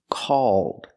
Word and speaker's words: called: The vowel sound is aw plus the dark L. So if I change call with ed, it's pronounced called, called.